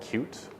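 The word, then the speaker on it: Qt: uh or a library called cute which is spelled Q T and what P cute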